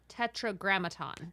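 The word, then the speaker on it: Tetragrammaton: Graton tetr Graton say that four times fast Tetra grammaton Tetra grammaton say it correctly four times fast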